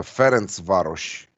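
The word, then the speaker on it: Ferencváros: going for and what's the best way to pronounce ferenc varus so it's uh ference varus yeah and uh this is another uh type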